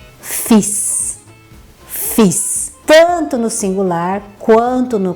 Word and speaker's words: fils: Então, o filho, a gente vai pronunciar fils, fils.